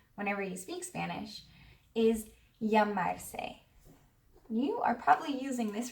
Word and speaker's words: llamarse: It's spelled double L A M A R S E. It's basically the regular AR verb llamar, which means to call, and this funny little syllable se.